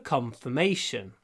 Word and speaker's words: confirmation: Здесь ударение уже на третий слог. Confirmation. Confirmation. И интересно, так получается, что первый слог мы произносим больше. Confirm, но confirmation. Confirm, confirmation. Мне кажется, получается, что слог вот сразу перед ударным обычно мы больше сокращаем, редуцируем. Confirm, confirmation. Confirm, confirmation. Так что вот в этом слове con, первый слог, имеет второе ударение. Ну, меньше, но все равно есть. Второстепенное. Secondary stress.